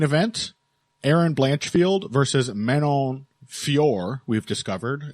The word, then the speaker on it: Fiorot: like the main event Aaron blanchfield versus Menon Fior we've discovered it's apparently pronounced and French people you have a lot to answer for this is just the latest of your crimes but man on fure Aaron blanchfield basically determining um who will fight